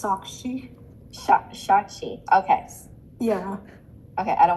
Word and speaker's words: Saakshi: introduce you know saki to van and Van saki hello wait is that how you pronounce your name it's shaki sh shaki okay yeah okay I don't want to buer